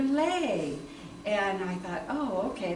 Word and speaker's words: Louie: know any Louise and I didn't know at that time that that's not the way you pronounce the name and so finally I I show showed my guide this which my father wrote my name on and and they said Oh Leigh you're Leigh and I thought oh